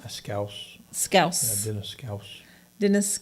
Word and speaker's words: Schous: Actually, you pronounce his last name how? Schous.